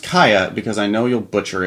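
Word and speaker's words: Kiah: um pronounce uh kaya is that how you pronounce that i thought it'd be kai kai it looks like kia yeah it's yeah key it's k-i-a-h and she says uh kia pronounced kaya because i know you'll butcher it without this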